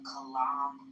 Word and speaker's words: Kalam: So, a related modern version is the Kalam cosmological argument. Did I pronounce it right?